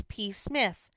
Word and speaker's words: Psmith: My name perhaps I ought to reveal to you, is P. Smith. The P is silent and until very recently I lived in affluence not far from the village of much Middleford in this county.